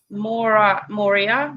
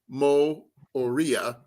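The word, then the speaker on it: Moorea: bay of islands to auckland and then tahiti more moria more more honolulu that's in october oh it's french polynesia it's an island in the uh south pacific and it's actually spelt pronounced mo oria with an asterisk in the middle between the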